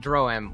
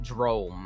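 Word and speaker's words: Droaam: while uh drawam uh people outside of it the non-monstrous races races call it droim while those that come from there call it jerome i think i need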